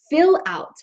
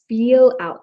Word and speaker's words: fill out: And yes, make sure that you say fill out, not feel out.